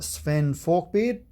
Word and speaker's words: Sweyn Forkbeard: friday and so this is from a stingers pronounced sven fork beard and it's a soap that's made in the